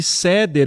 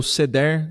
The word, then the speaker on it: Seder: na em algumas celebrações de ceder ou seder não é mesmo o nome tem a e vale uma variação de pronúncia dependendo do né do costume que a gente tem bom então